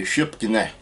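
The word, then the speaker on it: Sipokni: That's not how you pronounce it, and it ain't how you spell it, and it might be that in Chickasaw, I don't know. In a Chada it'd be Shipkine, like that.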